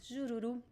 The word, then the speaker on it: jururu: It is also stressed at the end because usually words that end with the letter U are also stressed at the end in Portuguese. Jururu, jururu. And in this case, the pronunciation of the letter R, as you see, both R's are between two vowels. So in this case, it is the flap T sound, right? It is the fricative R.